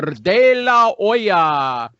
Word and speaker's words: De La Hoya: of fighting former 6th Division world champion Oscar De La Hoya. Yes, I pronounced it correctly just for my amusement.